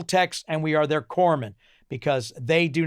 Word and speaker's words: corpsman: corpsman collapse me but the name of the pronunciation is actually corpsman his way it's pronounced it's spelled Co RP s ma an but it's pronounced corpsman and the thing is it's the whole title